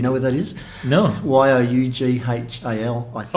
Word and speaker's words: Youghal: Youghal, I think. Oh, Yule. Oh, yeah, that's Yule, okay. Yeah, it's in Cork. Well, that's 40 years of mispronunciation, correct?